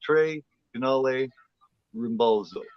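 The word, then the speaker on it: Tre Canali Rimbalzo: And yeah, welcome everybody to basically it's the way it's pronounced is Trey Canali Rimbalzo, which basically means the three channel balance where we bounce from week to week to each of our channels.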